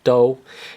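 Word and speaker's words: 刀: This is the Chinese character for knife, and it's pronounced do, and that is Cantonese pronunciation.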